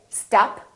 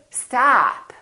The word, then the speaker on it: stop: So don't say stop, say stop, stop.